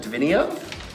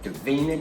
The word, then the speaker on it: Davina: Isn't it funny when you said it wrong, I knew that was wrong? Davina de Campo. I must say your name like that from now on and then I'll get it right.